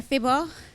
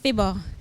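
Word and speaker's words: Phibbah: that he had was Fibber. And this is my response to Fibber, and it's found in Kingston Buttercup. Dear Fibber, your name half rhymes with Siver, the dance move that's in.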